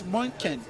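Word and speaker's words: München: Not Chen. So, it's Monen. It's Monen. You know, in in in German, it's it's spelled M U N C H E N, right? That's how it's spelled in German.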